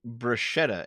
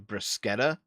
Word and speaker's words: bruschetta: Don't say bruschetta instead of bruschetta. They pronounce it bruschetta?